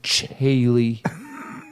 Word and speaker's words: Chaille: Our Swap, guest, Tom Konopka, Becky Becker, Chaille, as it's pronounced.